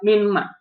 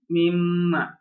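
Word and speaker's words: مِمَّا: For min, if it is add ma, mim, bukan, it's not min ma, it's mim ma, right?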